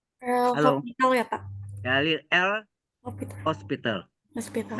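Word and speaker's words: L'Hôpital: Nggak pakai S ya. Nama orang Perancis. Ya. L hospital nama orang. Jadi kalau ini pakai S, rumah sakit nanti. Hospitalnya ya kan. Jadi HO pakai topi. Jadi bacanya hospital.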